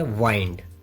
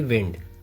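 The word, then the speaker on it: wind: विंड, इसका अर्थ हवा होता है और लपेटना भी होता है, लेकिन लपेटना को प्रोनाउंसिएट किया जाता है वाइंड न कि विंड।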